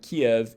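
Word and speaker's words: Киев: your palette ki ki like we would pronounce the word key in english we kind of get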